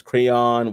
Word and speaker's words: Craiyon: There's Crayon, which is spelled CRAIYON.